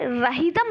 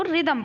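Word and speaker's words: rhythm: जाता है रिदम लेकिन यहां पे रहीम नहीं पढ़ने हो रिदम पढ़ने हो स्पेलिंग क्या होगी आर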